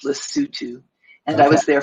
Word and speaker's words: Lesotho: I was in a little country surrounded by South Africa called Lesotho. It's Lesotho, but it's pronounced Lesotho.